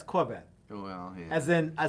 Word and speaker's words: Corvette: yeah oh yeah but you're not pronouncing it right Clos vette yeah it's Corvette oh well then I